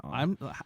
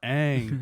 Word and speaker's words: Aang: go off of, and none of them say Ong. I want to know why not a single writer, producer, executive, actor said, but like, it's pronounced Aang, bro.